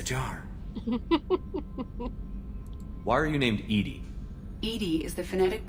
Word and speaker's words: EDI: airlock is a jar why are you named edie edie is the phonetic pronunciation of e that is an acronym for